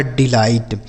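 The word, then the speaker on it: delight: पर थोड़े शब्द हैं डी ई एल आई जी एच टी तो क्या पढ़ा जाएगा इसे डी ई से पढ़ेंगे बच्चों डी एल आई से पढ़ा जाएगा लाई और जी एच टी से ट जी एस टी से ट लिखा डिलाइट आगे टी ओ एन आई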